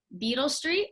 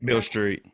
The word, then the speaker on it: Beale Street: Beale Street. Yes. Okay. Beale Street. Beale Street. How do you say it? Beale Street. Okay, I thought it was Beetle Street.